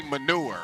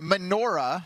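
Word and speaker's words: menorah: I don't want to say it like mistakenly say manure. You just did. Yeah. Well, it's manure is what I said. Manora. Manora. Okay.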